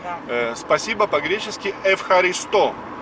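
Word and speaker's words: ευχαριστώ: Спасибо по-гречески «эвхаристо» на последний слог, на последнюю букву «о». «Эвхаристо».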